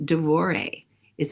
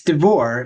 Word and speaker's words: Devore: Is it Did I pronounce your It's D'vor. And it's interesting because originally my name it's spelled D E V O R E. And my dad added the E because everyone called him De. But I do get people saying D'Vori.